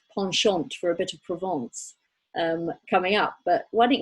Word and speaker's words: Provence: Provence.